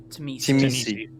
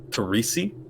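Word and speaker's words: Tzimisce: Well, God, I'm gonna butcher these names now. That's all right. So Sombra and the what? The Terrace? Timisi. Timisi, Terrace-Misu, okay. Seriously. Anyway, them, the Teresi?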